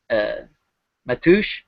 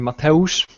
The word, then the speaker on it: Mateusz: Matoush, I'm gonna say it wrong a half dozen different ways. Would you care to say it one more time for me? Yeah, it's actually Mateusz.